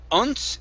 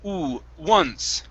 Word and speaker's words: once: This word, instead of uns, it's once.